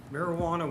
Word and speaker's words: marijuana: to adjourn yes um marijuana with a j owes its origins to mexican spanish which explains why the j is pronounced the spanish way when the u.s federal